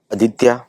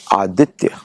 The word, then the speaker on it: आदित्य: जैसे for example ADITYA मेरा नाम, कोई अमेरिकन बोलेगा आदित्य, कोई दूसरा बोलेगा आदित्य, तो नहीं बोलेगा, था बोलेगा, बट एक्चुअल नाम है आदित्य।